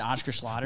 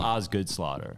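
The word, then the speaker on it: Osgood-Schlatter: I had Oscar Schlatter's.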